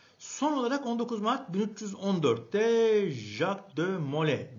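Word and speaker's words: Jacques de Molay: Son olarak 19 Mart 1314'te Jacqu de Mole diye eee okunuyor okunuyor.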